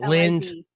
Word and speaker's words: Liz: L-I-Z. What? L-I-Z, Liz, not Lynn.